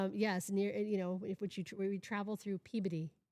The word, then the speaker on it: Peabody: It was, yes, near, we travel through Peabody, not Peabody, Peabody to get there.